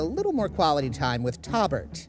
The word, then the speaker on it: Tobert: This episode, we get to spend a little more quality time with Tobert, spelled with a T. You're the guy with the name. It's Tobert. Robert with a T.